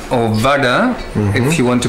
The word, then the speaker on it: vada: The next dish is called vada or vada, if you want to pronounce it correctly.